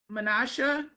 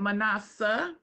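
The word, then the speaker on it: Manasseh: were going through them you pronounced Menasha but is that m-a-n-a-s-s-e-h yes okay not that one the one that literally had the jewels on it oh her first yeah that's Seven's middle name and I've always pronounced it manasa so I'm saying it wrong oh this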